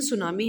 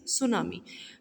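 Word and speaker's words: tsunami: जो सुनामी होती है इसको टी सुनामी प्रोनाउंसिएशन, लेकिन सुनामी है, लिखा टी सुनामी जाता है बट इट इज़ सुनामी.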